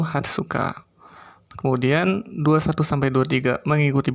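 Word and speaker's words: 二十日: 15 Jugo Nichi, 16 Joroku Nichi, kemudian 17 Jushichi Nichi, kemudian 18 Juhachi Nichi, 19 Juku Nichi, dan untuk 20 agak berbeda atau khusus yaitu Hatsuka.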